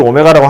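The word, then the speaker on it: ω: 말로 이 방정식의 한 허근을 오메가라 할 때 이게 쓰는 건 W처럼 쓰는데요. 읽을 때는 오메가라고 읽어요.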